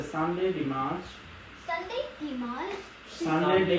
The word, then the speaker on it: dimanche: No, you're gonna have to say Sunday, Dimanche. Sunday, Dimanche. Sunday, Dimanche.